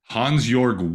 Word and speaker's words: Hansjörg: How do you pronounce his name, the Swiss billionaire? Hansjörg Wyss, W-Y-S-S.